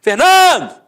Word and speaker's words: Fernando: Por exemplo, Fernando! Ficou onde? A sílaba tônica? No NAN. Então você mata que a penúltima sílaba é a sílaba tônica. Portanto, é uma paroxítona terminada em O.